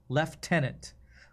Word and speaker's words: lieutenant: Left tenant. Why Why would you say left tenant? When is gh ever used as an F sound? cough. I guess left tenant is a weird one to me. I guess it a gh is used in for an F sometimes, but we say lieutenant in the US.